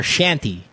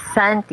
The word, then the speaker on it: Santi: Or Shanty. What is it? Is it Hello, Santi? good evening. Shanty? It's Santi. Hello.